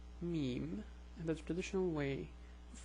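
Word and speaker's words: ميم: help so the next letter is the letter mem which is equivalent to the m it's pronounced M and the name is mem and the way you write it is like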